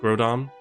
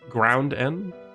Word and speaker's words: Groudon: There's no N, just Groudon. Okay, cool. Wait, Ground N?